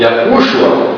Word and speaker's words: Yahushua: Nós colocamos esse sinal porque este U é um pouco mais forte, então a pronúncia fica em cima de Yahushua, né?